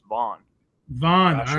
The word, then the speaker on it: Van: I'm leaning towards Pantoja, but I really would not be surprised if Van won. Actually, we got to start calling him Vaughn, bro. His actual last name is pronounced Vaughn.